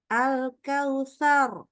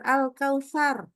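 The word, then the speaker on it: الكوثر: contohnya gini Eh alkautsar alkautar ini kita baca bukan alkautsar tapi kautar tebal gitu ya ini contoh gitu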